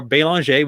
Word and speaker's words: Belanger: The name Belanger or Belanger, which is indeed the proper French pronunciation, is pretty common the further north you go.